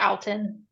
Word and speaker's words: Outten: so my website's Alton that's my name um you spell o u- tteen it's not pronounced anything weird um people make it harder than it is I'm also on Instagram